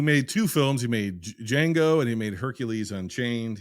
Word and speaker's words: Django: know what's your name he's like Django the D is silent he goes I know